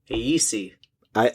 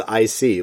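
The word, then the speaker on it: Aesi: the uh main antagonist it's a-e-s-i aec that's not how i read it at all i kept reading it as i see like the word i see that that's how the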